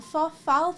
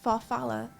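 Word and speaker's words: farfalle: Hold on, farfal pasta. How do you even pronounce that?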